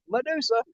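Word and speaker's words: Mudusa: That's spelled M-U-D like mud. Medusa.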